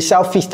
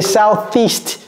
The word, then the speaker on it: southeast: que vous mettez là-bas vous dites southast ok southist mais fist ça fait bizarre ok on va voir comment a prononceron ok southeast sou out donc ça c'est comme si c'était